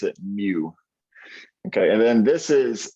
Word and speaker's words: mu: know about pokemon so this pokemon called mu that's how you say it so it's kind of a funky letter but you pronounce it mu okay and then this